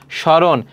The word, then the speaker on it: স্মরণ: দেখো শব্দের প্রথম ব্যঞ্জনের ম ফলা সংযুক্ত হলে সাধারণত তার কোন উচ্চারণ হয় না। যেমন শ্মশান। তাহলে এখানে দেখো এইযে ম ফলা শুরুতে আছে। এজন্য এর উচ্চারণ হবে না। স্মরণ। দেখো ম ফলা শুরুতে আছে। এর উচ্চারণটা হবে না।